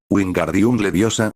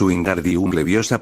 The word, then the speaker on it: Wingardium Leviosa: "Wingardium Leviosa", gritó agitando sus grandes brazos como un molino. "Lo estás haciendo mal", Naruto escuchó como Hermione lo regañaba. "Es Wingardium Leviosa, pronuncia más largo y más claro.